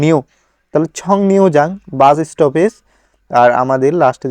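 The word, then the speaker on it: 정류장: হবে ছ, আর আমাদের ইয়ং বাচ্চিমের পরে যদি রিউল থাকে তাহলে এই রিউলটা হয়ে যাবে নিয়ন, অর্থাৎ ছং রিউ না হয়ে গেছে ছং নিউ। তাহলে ছং নিউ যাং বাস স্টপেজ।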